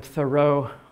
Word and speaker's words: Thoreau: you've been calling him Thoreau all your life that's fine it's a French name and the French will tell you with some pointedness that we're both wrong it should be pronounced